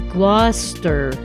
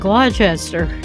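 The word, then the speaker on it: Gloucester: I stand to correct the name of the city is gler rather than glester you know she also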